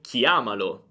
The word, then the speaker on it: chiamalo: diretto lo e dico chiamalo. Senti attentamente. Chiama, chiamalo. Guarda, l'accento non si sposta, l'accento è fermo su chiama.